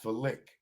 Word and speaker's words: phallic: Pronounced phallic. Wow. Phallic, like fellatio, phallic.